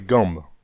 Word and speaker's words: gambes: ce sont les jambes on peut ne pas prononcer le b et dire les gangs le mot jambes dérives